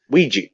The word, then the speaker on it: Ouija: But it's just like Because I remember the chick I in uh uh, uh we how do you pronounce it? Ouija.